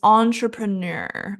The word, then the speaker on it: entrepreneur: So many people say entrepreneur, but it should be entrepreneur. So not entrepreneur. There's no tray and pray. It's all schwa.